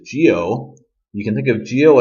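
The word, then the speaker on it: 九: well the letter nine the number nine is until which is Geo you can think of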